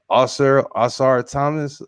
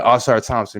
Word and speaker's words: Ausar Thompson: How do you say his name? Ausar Thomas. What's his name, man? Thompson, yeah. Yeah, Ausar Thompson, man.